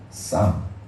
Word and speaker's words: psalm: 골든 쌈. 시편이 쌈이잖아요. PSALM. 피가 묵음입니다.